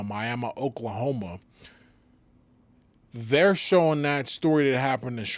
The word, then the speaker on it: Miami: And they were because the fight took place in Miami spelled like Miami, but pronounced Miami Miami, Oklahoma.